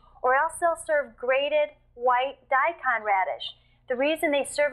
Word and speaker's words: daikon: else they'll serve grated white daikon radish the reason they serve it with the